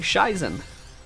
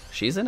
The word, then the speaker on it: Shizen: commented last episode saying stop saying shaizen it's she's in i think maybe i'm